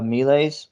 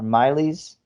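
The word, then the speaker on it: miles: not pronounce these perfectly the lowest rank was the melees or Miley's it's spelled m-i-l-e-s and those guys are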